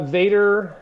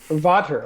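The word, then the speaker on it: Vater: what brand are you sticks right now uh Vader uh 3A um fat back wood tip sticks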